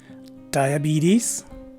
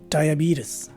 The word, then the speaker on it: diabetes: So this word is pronounced as either diabetes or diabetes.